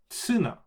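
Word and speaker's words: ツナ: And when you take the T line and you don't have the luxury of saying tu, it becomes tsu. So it actually is tsuna. So you're doing the vowel is more dominant than the consonant, so tsuna. So you have the right vowel, and then it becomes tsu instead of tu.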